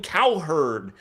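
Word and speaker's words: Cowherd: His name sounds like coward. It sounds like an animal herder. Colin cow herd.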